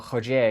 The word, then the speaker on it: Roger: at the school in the Roger Gracie or Hodja if it was Portuguese or Brazilian pronunciation a Gracie school in